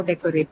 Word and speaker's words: decorate: So this is how decorate would be stressed. So the first syllable is what is uh, the one which will take the stress.